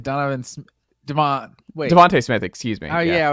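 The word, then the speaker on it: Devonta Smith: uh or you said Donovan SM deont wa Devonte Smith excuse me oh yeah I was like you're saying his name wrong and now I'm blanking on what his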